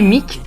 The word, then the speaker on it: Meak: pas encore, qui est Mick et comment te définis-tu ? Alors oui, pour ceux qui me connaissent pas encore, alors mon nom de scène c'est Mick, ça s'écrit M-E-A-K, et j'aime me définir comme auteur, beatmaker et believer.